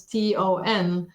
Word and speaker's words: thon: And then we said to him, okay, if you order a tuna sandwich, then in French it's thon, so it's Ton with a sort of nasal sound.